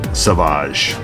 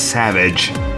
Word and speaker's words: Savage: me it's like it's savage it's not savage yeah i know i know it's always been said savage but it's just funny to me that it's still the same word but uh they're just pronouncing it differently to make it cool you